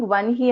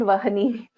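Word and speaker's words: वह्नि: It is not Vahani, it is Vanhi.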